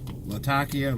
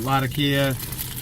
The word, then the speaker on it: Latakia: the latakia or latakia i know everybody pronounces it latakia i pronounce it latakia the reason why is i have a friend from syria and he pronounces it latakia so that's that's why i do it that way and that's where the city is that's where the tobacco's made so right now i'm